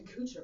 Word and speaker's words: Kutcher: That's an Ashton Kutcher movie, right? Is that not who you say his name? Kutcher. Kutcher? Kutcher. Is it Not Kutcher? Kutcher. Whatever. Ashton Kutcher. It rhymes with butcher.